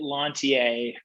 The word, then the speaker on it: Lanthier: Well, I pronounce it Lanthier, which gets it closer to the French pronunciation, but is not the sort of double-barreled Quebecois version.